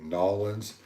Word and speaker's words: New Orleans: I would tell them if they wanted to say Nolans, they shouldn't have spelled it capital N-E-W, capital O with a space, capital N-E-W, space, capital O-R-L-E-A-N-S. I think they should have, it's like Illinois, they should have, do they say Nolans? They say New Orleans or New Orleans? No, Nolans.